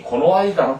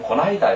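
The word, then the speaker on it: この間: 특히 고노아이다는 빠르게 하면 고나이다 이렇게 읽죠.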